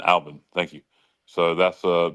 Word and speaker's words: Albin: Yeah, Alvin. Alban.